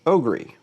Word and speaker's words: OGERY: Now this is one of those Ryobi Ryobi type of deals but in my opinion this is pronounced Ogry.